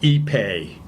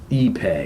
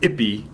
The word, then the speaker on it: ipe: Okay, and here is the industry standard Ipe. Ipe. Not to be confused with Ippy.